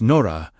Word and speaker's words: Nura: This is why the word Nura, pronounced Nora, meant something entirely different from a beam observed from far away.